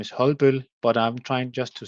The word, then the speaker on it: Holbøll: So the pro pronunciation of the company name is Hulbul but I'm trying just to say it uh